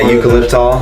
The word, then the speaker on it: eucalyptol: I don't know how to pronounce the eucalyptus. Oh yeah, eucalyptol.